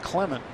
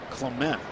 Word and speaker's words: Clement: Now his name is pronounced Clement, not Clement. Like the former Cub and Padre pitcher who lives in Butler. That's Matt. But Jeff goes by Clement.